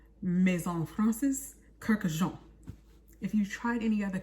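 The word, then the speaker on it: Kurkdjian: Kurkdijian. One more time. Maison Francis Kurkdijian. Maison Francis Kurkdijian. There it is. Kurkdijian. You gotta put the Jean in it. Maison Francis Kurkdijian.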